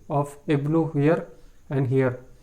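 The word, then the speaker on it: ابن: See the difference between the pronunciation of ibnu here and here. It is pronounced by pronouncing hamzatul wasl properly, ibnu, but here the pronunciation of hamzatul wasl is dropped.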